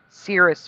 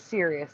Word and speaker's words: Sirius: It is Sirius. That is the current reality. Yeah, Cirrus. That is what I remember. It was not pronounced Sirius, like seriously.